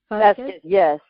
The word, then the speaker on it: Vazquez: Vazquez, yes, and okay. you know, yeah, that it's spelled with a Z. A lot of people mix it up and spell it with an S, but yes, it's Vazquez.